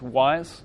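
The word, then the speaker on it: Wwise: There's other packages such as Wise, which is spelled W-W-I-S-E.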